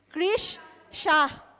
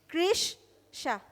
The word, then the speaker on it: Krish Shah: Krish Shah. अच्छा, एक साथ बोल दिया. Krish Shah.